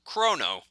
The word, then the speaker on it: Chrono: default ones in which case this guy is pronounced Chrono yeah I thought it was Chrono what until